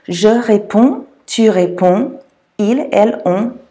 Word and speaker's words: réponds: They're actually silent. All three of those are pronounced the same way and you don't pronounce the D's or the S's on the end. Je réponds, tu réponds, il, elle, on répond.